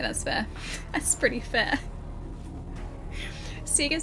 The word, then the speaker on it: Sega: No official Sega system says Sega. Official Sega of Australia pronounce it Sega.